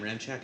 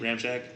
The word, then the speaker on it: Ramczyk: with Teron Armstead and Mike Ramczyk, or Ryan Ramczyk, I think is how you say his name. Ramczyk.